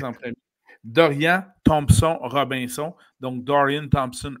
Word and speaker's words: Dorian: que si ce serait Dorian je vais prononcer à la française en Dorian Thomson Robinson donc dan